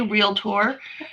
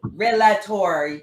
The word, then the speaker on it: realtor: one of those things or how they say realtor you know so and that didn't bother me because i was one of the ones that said it wrong until i took my real estate class and terry was like i mean she was crazy with relator i know that's like